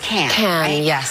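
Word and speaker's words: Cannes: seen you at can it's pronounced can I've seen you I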